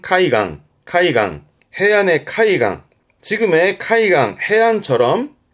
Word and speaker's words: 海岸: 발음은 카이강.